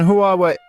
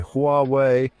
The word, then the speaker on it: Huawei: Huawei.